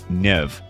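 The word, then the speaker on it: Niamh: Take the name Siobhan, which is pronounced Shiva or Nia, pronounced Nev.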